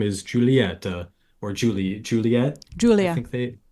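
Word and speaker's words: Giulia: Julia Julia it's spell it's like it's spelled g i u l i a like Julia Julia Julia but with a silent G let's pull up the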